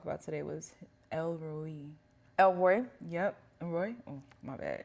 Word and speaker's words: El Roi: El Roy?